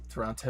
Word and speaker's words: Toronto: Yeah, you pronounce the second T. It's like an instant sign. Oh, so Toronto.